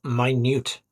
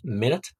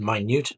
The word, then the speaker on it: minute: with this one so it's not minute it's not about time we generally use this word the word minute when talking about details